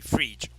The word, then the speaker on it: Frege: And yes, it sounds just like it's spelled just like I sound, Freege, Frege.